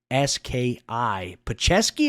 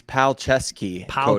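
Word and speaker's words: Palczewski: p-a-l-z I mean c-z-e-u-s-k-i pachevski is that how you pronounce it I think it's pal chesky Alex palcesky the third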